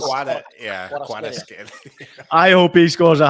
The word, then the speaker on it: Kvaratskhelia: Liam saying, is that really how you say it, Nigel? Kvaratskhelia? Kvaratskhelia. How they say it in Naples. Kvaratskhelia.